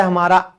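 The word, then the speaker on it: hymn: भजन इसे हम कहते हैं हिम। एन हमारा साइलेंट है।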